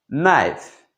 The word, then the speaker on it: knife: c'est en lou les lou c'est Wolves Wolves knife knife ici le cas est mu d'accord on prononce pas le cas NIIF qui veut dire